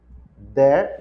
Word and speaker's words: there: There. E e pode puxar o R, there there.